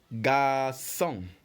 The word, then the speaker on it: garçon: Like, for example, the first word we're seeing here is garçon. Garçon. And it is spelled G-A-R-C, which is pronounced S-O-N. Garçon.